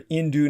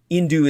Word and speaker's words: Hindu: majoritarianism by the way indu is spelled with an H but the H is silent like in the original Greek pronunciation when Alexander the Great